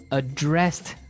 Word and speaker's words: address: So, the verb address has the the stress on the second syllable.